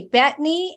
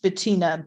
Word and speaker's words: Bettina: Okay, Bethany and then Beth. Hi, my name is pronounced Bettina, but that's Bettina, I am so sorry.